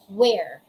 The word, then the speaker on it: were: na for past ay were. Again, say were. Were. It's not where.